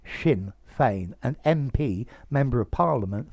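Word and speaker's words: Sinn Féin: became the leader of wait for the pronunciation of this shin fame that s i double n in irish shin feign an mp member of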